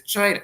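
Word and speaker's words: Chyna: The main character's name is China, spelled with a Y for some reason. ch Y N A which um led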